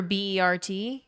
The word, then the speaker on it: Bert: Cuz where I'm from, we'd say bear for B E R T. It's pronounced bear.